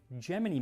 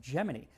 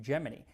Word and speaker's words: Gemini: space on the upcoming Gemini missions. And yes, it's pronounced Geminy. I always thought it was Gemini, like this zodiac sign, but according to NASA in 1965, they said, "Nope, we pronounce it Geminy."